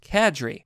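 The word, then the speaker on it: cadre: last year a new qadir of negative YouTube gaming commentators come to prominence I gotta look that up learn a new word today it's pronounced Kadri real estate company a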